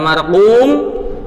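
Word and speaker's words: مَرْقُوم: Kalau antum seharusnya markum dibaca marqum, atau seharusnya kaf malah bacanya qaf, itu sudah merubah arti, sehingga kesalahan ini kesalahan yang disebut lahnu al-jali.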